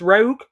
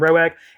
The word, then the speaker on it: Roeg: from um walk about did pronounce his name Nicholas Rogue so at least I know now because I was calling him Rowe eight for silver so